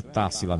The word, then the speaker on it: Tássila: Você acentuou o A, o primeiro A, né? O TA, Tássila de São Gonçalo. Então é Tássila mesmo, né? Tássila, três sílabas, então. Proparoxítona, né?